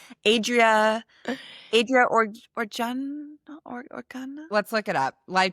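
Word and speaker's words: Arjona: Um Adria I believe you would pronounce it Orjana.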